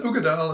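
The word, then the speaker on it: Uigeadail: can mispronounce them anyway the the way you pronounce this is an ugadile is the law that the whiskey comes from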